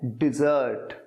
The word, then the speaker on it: dessert: बोलते कैसे हैं? डिजर्ट, डिजर्ट। अच्छा, जो पहला वाला है वो है डेजर्ट, डेजर्ट, उसका मतलब होता है रेगिस्तान।